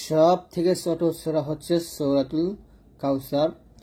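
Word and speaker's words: كوثر: রটা মোটা করতে হবে।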